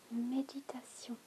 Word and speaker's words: méditation: It is the word méditation. The accent on the E makes all the difference in the world.